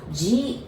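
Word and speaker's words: ぢ: because the second one, I know you might want to pronounce it like D-I, like D, but we pronounce it like J-I, G.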